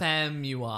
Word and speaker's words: Famuyiwa: Famuyiwa.